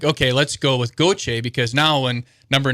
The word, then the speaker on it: Gauthier: So they said, well, in Canada, it's Gauthier. It's French-Canadian. I'm like, man, that sounds awesome, right? So as a 15-year-old, I'm like, okay, let's go with Gauthier, because now when number